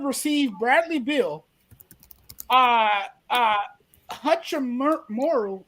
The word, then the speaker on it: Hachimura: bradley bill uh uh hutchin morrow if i pronounced it really hachimura yeah uh daniel gafford